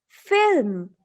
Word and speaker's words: film: It's film, not film. Film. You are using I after L. Don't use it. Use the sound one by one. It's F, I, L, M.